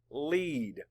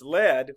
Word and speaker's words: lead: map The Sounds lead or if it's lead we could say lead maybe I'll do it both ways spell it l e